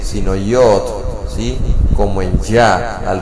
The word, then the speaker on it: yod: La pronunciación vocal de esta letra hebrea se encuentra al decir yod, ya que esto le da el sonido, esa letra. Como ejemplo, no es yed o ye o yet, sino yod, ¿sí?